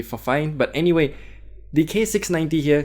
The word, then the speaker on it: Fifine: Pretty sure I'm butchering up the name, but well, it's spelled Fifine, so I presume it's fine. So cutting that NE out is gonna be Fifine.